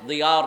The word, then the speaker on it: জিয়াউর: শব্দটা হলো দাল, দিয়া, কিন্তু বাংলাতে আমরা লিখছি জিয়া। আরবি উচ্চারণের সাথে মিল নেই। তাই আমি বললাম, এটা দিয়া হলো কেন? তারিফ রাইস বাংলাদেশ দিয়াউর রহমান।